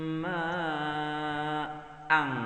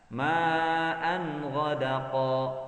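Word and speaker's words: ماءً غدقا: 'ala at-tariqati la asqainahum ma'ang. Dia bacanya ma'ang. Ma'an ghadaqa. Nah, hati-hati, bukan ma'an ghadaqa. Ya, ini huruf izhar, maka kita baca ma'an gha. Lihat, izhar di sini. Ini huruf gha. Ya. Ma'an ghadaqa.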